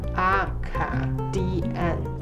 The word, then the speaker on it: Acadian: It's pronounced as Acadian.